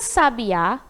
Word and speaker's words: sabiá: Sá já sabe a Olha lá onde tá atômica ou lá no finalzinho porque já tá falando do nome do da árvore né Sabiá e sabia